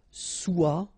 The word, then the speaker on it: soit: Okay, then of course être and avoir, so être will become soit, remember final S is not pronounced, soit, then soyons, soyez,